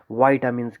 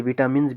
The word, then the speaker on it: vitamin: बहुत सारे लोग जो हैं इसे विटामिन्स भी बोलते हैं। चलो आप कुछ भी बोलो, लेकिन मोर अप्रोप्रिएट प्रोनाउंसिएशन जो है वो वाइटामिन है, वाइटामिन नॉट विटामिन।